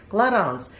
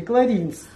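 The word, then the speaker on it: Clarins: создал эту косметику псевдонима Он создал свой псевдоним который вот так звучит кларанс Тем более что во французском языке Я так понимаю вообще пишется одно подразумевается другое а произносится третье Так что не знаю у вас в Израиле наверно неправильно говорят А как говорят говорят так как мы раньше говорили кринс знаете как Большая часть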